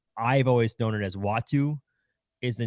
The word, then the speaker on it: Uatu: the wikipedia page the the pronunciation says w-a-h-t-o-o so that to me is watu that sounds good to